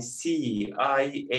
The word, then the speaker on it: CIA: Yazı formunda bu şekilde kısaltmışlar ama okunuşuna bakarsak okunuşta letter by letter pronunciation var. Yani C-I-A diye okunuyor.